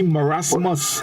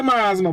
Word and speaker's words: marasmus: It's actually marasmus. Marasmus. They say marasma, but it's marasmus.